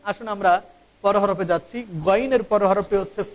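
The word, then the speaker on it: غ: আইনের পর হরফটি হচ্ছে গইন। এই গইন হরফটির উচ্চারণ আমরা অনেকেই জানি না, আমরা এটাকে গাইন বলে থাকি।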